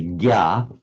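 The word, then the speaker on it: ज्ञ: It does mean, and then the Sanskrit jna, which in modern Hindi you pronounce as a gya, and the English no,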